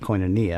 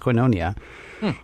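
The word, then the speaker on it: Koinonia: U we were southerners so we called it coinia because we didn't know any better but it's actually pronounced coonia.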